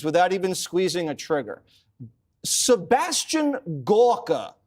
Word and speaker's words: Sebastian: Sebastian Gorka said something very brilliant today.